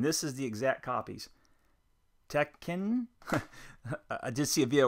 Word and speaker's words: Tekken: Tekken. I did see a video where someone says pronounce both K's, so I'll do that. And Ridge Racer. Now, I had played Tekken.